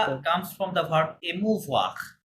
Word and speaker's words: émouvoir: comes from the verb émouvoir.